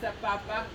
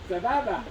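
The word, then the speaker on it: סבבה: Most of you would say with a B and not with an F or a P. No P. No P. How do you say Sapapa? Sababa.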